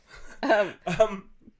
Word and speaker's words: Gamme: Gamme.